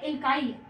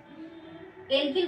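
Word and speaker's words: alkyl: तो क्या रहा है उच्चारण में, क्या रहा है, एल्काइल। तो इसका नाम क्या हो जाएगा, मिथाइल। क्या हो जाएगा, मिथाइल या मेथिल। ठीक, एल्किल ग्रुप कहेंगे या एल्काइल, तो इसका नाम हो जाएगा मिथाइल या मेथिल।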